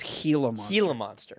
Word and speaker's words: Gila monster: a monster you know it's actually pronounced a gila monster oh is it really it's helium Gila monster yeah but no I